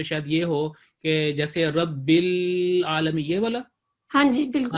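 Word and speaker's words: العالمين: جیسے یہ غلط ہوگا کہ رب العالم، یہ نہیں، یہ نظموں میں چل جاتا ہے لیکن تلفظ میں نہیں چلتا. یہاں پہ ہوگا رب لام کلیئر ہو رب العالمین.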